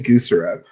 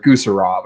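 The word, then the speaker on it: Gusarov: But no, Alexei Guserev, which was a dude or Guserov, I think is actually how it's pronounced. Yeah, it's Guserov.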